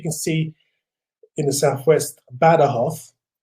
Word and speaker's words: Badajoz: see in the southwest badahoff it's written in badajoz but badahoth which is how they pronounce it here it's on the border